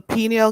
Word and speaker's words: pineal: it's pronounced pineal? So it's the pineal gland.